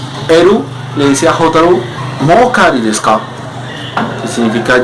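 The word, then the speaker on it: もう: Hay una particularidad con esta palabrita, mo, se escribe M-O-U, pero se lee mo, es decir, con doble O. En este caso, pues la U lo que hace es alargar un poquito más la vocal O.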